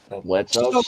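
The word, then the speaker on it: Blitzø: Oh yeah, Blitzo's sister. Yep, Blitz is, because remember he pronounces it without the hard O.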